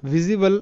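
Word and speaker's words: visible: সো প্রথম word pattern হচ্ছে IBLE, IBLE এর উচ্চারণ হবে ইবল, ঠিক আছে, ইবল। সো এর ওয়ার্ড যেমন ভিজিবল, আর এখানে জায়গা কম, এই কারণে কিন্তু বাংলাতে লিখে দেওয়া হয়নি।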